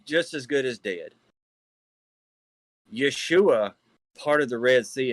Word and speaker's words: Yeshua: see the yeshua of yahuwah and thus not pronounced as yahshua or joshua neither that is yeshua of yahuwah so he's just to point out